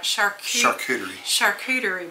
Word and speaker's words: charcuterie: it's called a, I'm probably not going to pronounce it right, charcuterie board.